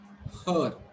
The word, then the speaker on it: her: try to read this her okay her here also you people try to remember you are not going to pronounce this letter r or row sound is not pronounced at all here it is her okay